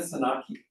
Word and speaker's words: Tzanaki: And we have Anna Saki who's here with us from Leeds.